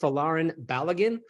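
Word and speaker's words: Folarin Balogun: with the pronunciation he his name is pronounced falarin baligan but as BJ alluded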